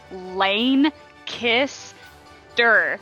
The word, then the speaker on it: Lancaster: market there are literally shirts that said lane kiss dirt like damn it this is how you pronounce it don't get it wrong yeah there's one in